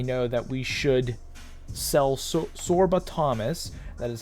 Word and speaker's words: Sorba Thomas: and let me know that we should sell sorba Thomas that is how you say his name um